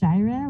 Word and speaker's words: Jira: So my name is pronounced Jira with a long I.